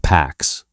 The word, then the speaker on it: P4X: So, he constructs a persona, P4X, pronounced Pax, the Latin word for peace, carried as a quiet irony by a man building a precision weapon.